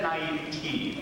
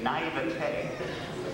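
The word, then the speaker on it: naïveté: I had said naivete for most of my days, till someone said, pronounce it naivete.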